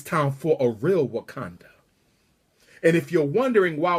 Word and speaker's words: Wakanda: time for a real Wakanda and if you're wondering why we're Conda rhymes with Uganda if you're wondering why Wakanda rhymes with Uganda is because the original